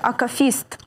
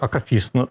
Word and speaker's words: акафіст: Акафіст чи акафіст? Така улюблена нашим людям служба, але справді багато хто каже акафіст. Треба казати акафіст.